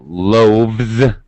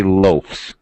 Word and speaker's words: loaves: it has Z pronunciation so loaf becomes loaves we don't say loafs although okay I hopefully